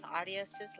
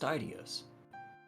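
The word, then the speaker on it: Aidios: The purity of starlight, symbol of Adios's love. Ellie. It's pronounced Idios.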